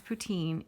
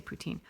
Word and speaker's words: poutine: I have to say the way that I pronounce poutine is very much an anglicized version of the word and Carol is quite